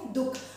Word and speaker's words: दुःख: लिखा जाता है तो हम इसे पढ़ते क्या है दुख और दोनों का उच्चारण जो होगा वो दुख ही होगा ठीक है मुझे उम्मीद